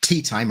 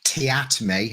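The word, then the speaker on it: Teatime: tea time or tiatme as he prefers to be pronounced from the guild of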